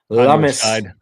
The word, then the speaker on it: Lummis: When you've got the great senator whose last name rhymes with hummus. Lummis.